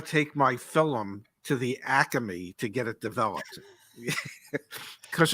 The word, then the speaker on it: Acme: It is, if you're a true Philadelphian, even though it's spelled ACME, okay, and it is legitimately pronounced Acme. If you're from Philadelphia, somehow it becomes Acme. There's an extra A in there.